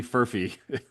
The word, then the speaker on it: Furphy: So shout out to Johnny Furphy. If that's how you say it. Murphy with an F.